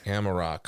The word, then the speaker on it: Amarok: cuz you have uh is it is it pronounced amarak or amarok yeah amarok amarok okay and uh that's on